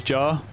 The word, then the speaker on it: Ja: You know, for the longest time I thought his name was John Moran. I didn't realize it was Jar.